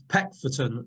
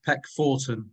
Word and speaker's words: Peckforton: I'd just say this is the pedant of Cheshire here saying it's Peckforton, not Peckforton, or however you pronounced it.